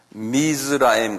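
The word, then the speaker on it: Mizraim: 이거는 미즈라임이라고 그래서 미즈, M-I-Z. 그 다음에 라임. 미즈라임 그래. 미스라임.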